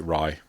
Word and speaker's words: Rai: Rye. I believe you pronounce it Rye. R-A-I.